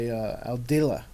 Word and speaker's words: Aldila: It's a Rogue 95 MSI by Aldila. Is that how you pronounce it? Aldila? Aldila, yeah.